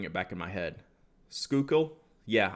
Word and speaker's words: Schuylkill: back in my head schuylkill yeah i was close school kill so yeah that's such